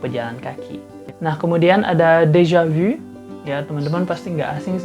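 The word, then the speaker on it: déjà vu: lain sebagainya Ya tapi kalau misalnya dalam bahasa Prancis itu udah jelas cara bacanya Dejavu Tapi kalau dalam bahasa Indonesia kita bisa temuin beberapa variasi misalnya seperti de javu juga kita paling serunya macam-macam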